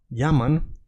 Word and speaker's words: llaman: because, as you know, double L in Spanish makes the sound yeah, and you say llaman, that means they call.